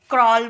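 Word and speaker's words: crawl: सी आर ए डब्ल्यू एल। यहां भी ए डब्ल्यू को हम अ में निकाले तो इसे क्रॉल बोलेंगे।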